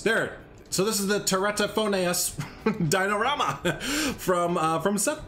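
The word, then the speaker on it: Teratophoneus: you're gonna mess this name up so it's pronounced te ratto phone a us te ratto phonaes there so this is the tereta phonets dinorama from uh from seth there so yeah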